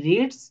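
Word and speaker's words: read: রিড রেড রিড অর্থাৎ বানান কিন্তু এক উচ্চারণ একটু আলাদা তাহলে আমরা এখানে অ্যাক্টিভে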